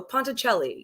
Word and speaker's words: Ponticelli: pride in well yes i i believe so ponticelli yeah it sounded great okay because that's i